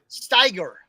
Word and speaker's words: Steiger: Spell that S. SPEIGUER. USNSD. SPEIG. No, ST. T is in Tom. STEIGUER. Steiger.